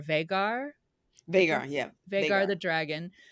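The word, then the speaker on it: Vhagar: say this v h a g a r vagar vagar yeah vagar the dragon on the top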